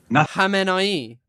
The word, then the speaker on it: Khamenei: Khamenei.